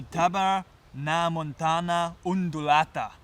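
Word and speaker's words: Tabernaemontana undulata: and the bug of the now let me pronounce this name correctly of the tabar na Montana undulata freaky name and um what's common for this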